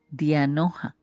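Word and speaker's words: διάνοια: Pero si retomamos ese alumbrando los ojos de vuestro entendimiento, tenemos que ver como palabra o término griego entendimiento, que se pronuncia dianoja, significa mente, pensamiento profundo.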